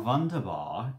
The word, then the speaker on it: wunderbar: when I first realised that Germans pronounce their W's as V's.